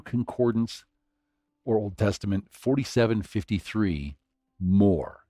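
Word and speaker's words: מור: So myrrh is Strong's Hebrew Concordance or Old Testament 4753 more. It's spelled Mem Resh or Mem Vav Resh, depending upon how you vowel point it.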